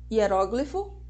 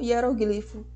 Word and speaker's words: hieróglifo: Hieróglifo ou hieroglifo. Boêmio ou boemia. Xerox ou xerox. Dentro do conceito de sílaba, a gente também trabalha os conceitos de encontros vocálicos e encontros consonantais.